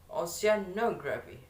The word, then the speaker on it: oceanography: The next that is what is oceanography. The word syllable stress that is in the third placement of the word, that is oceanography.